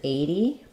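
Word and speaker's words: eighty: or 70 and 80 so in 80 it's a straightforward flap T because it's between two vowels and it's an stress syllable so it sounds like 0 with this being the flap it's not a strong d 80 80 it's just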